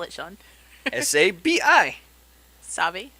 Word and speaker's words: Sabi: How do you spell it, Sean? S-A-B-I. Sabi. Sabi.